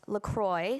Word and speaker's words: LaCroix: because it's from Wisconsin the brand insists that it's pronounced Lacroix so that it rhymes with enjoy there are countless articles